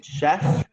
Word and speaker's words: chef: Chef, Mm, Noun. noun. Chef, we pronounce it chef.